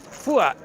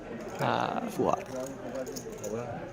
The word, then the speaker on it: Fuat: So, is that how you say Fuat with a soft D? Fuad. Fuad. I did hear someone pronounce it that way earlier today. Fuat.